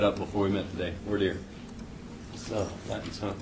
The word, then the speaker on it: voir dire: Voir dire is the pronunciation of that.